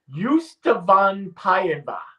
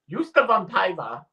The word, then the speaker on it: ystävänpäivä: They have a pronunciation guide. Ystävänpäivä. Ystävänpäivä, which means Friendship Day.